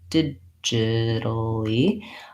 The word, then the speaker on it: digitally: then lastly digitally digitally we just have the exact same pronunciation with first syllable stressed digitally but instead of digital